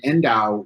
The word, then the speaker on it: NDAU: about the project name, which is pronounced Endow, but it's spelled NDAU.